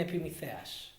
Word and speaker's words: Epimetheus: I'll do the Greek pronunciation, Prometheus and Epimetheus.